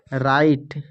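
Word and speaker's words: right: उच्चारण जो है नहीं करेंगे फिर टी का उच्चारण करेंगे जैसे कि आर आई जी एच टी राइट फिर यहां पर है नाइट एन आई जी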